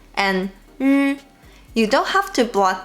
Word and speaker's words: 日: The difference between 诗 and 日 is that 日 is a voiced sound, which means you have to vibrate your vocal cords to make the 日 sound.